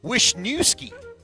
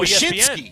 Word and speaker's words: Wyshynski: Greg Wisniewski. Oh, Wyshynski.